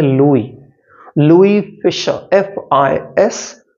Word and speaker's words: Louis: ओ यू आई एस इसमें एस को pronounce नहीं करते इसको पढ़ते हैं लुई लुई Fischer F आई